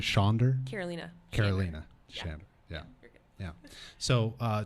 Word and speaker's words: Karolina Shander: to clarify that and uh her name is Carolina shander right did I pronounce that right shander Carolina Carolina shander yeah good yeah so uh tonight we're gonna